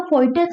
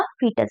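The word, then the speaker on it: foetus: अच्छा, लिखा फोइटस जाता है लेकिन बोला फीटस जाता है, ठीक है। तो लिखेंगे आप फोइटस, लेकिन बोलेंगे क्या, फीटस। तो आप फीटस ही लिखिए और फीटस ही बोलें, ठीक है, मतलब प्रोनाउंसिएशन को अपना सही करें।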